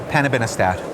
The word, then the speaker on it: panobinostat: This one, you pronounce it so well. Panobinostat.